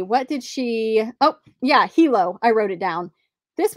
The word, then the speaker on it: Hilo: Hilo.